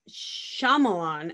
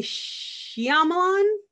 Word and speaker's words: Shyamalan: Okay, so I've always heard it M. Night Shyamalan until I started hearing people from like England say Shyamalan. They add something to it.